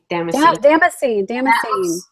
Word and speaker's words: damascene: Damascene.